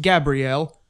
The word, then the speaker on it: Gabriel: strong gust of wind gabriel often pronounced gabrielle is the archangel of